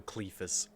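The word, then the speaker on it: Cleofas: of an area watch cleopas is not pronounced cleova it's probably clefus you're right they went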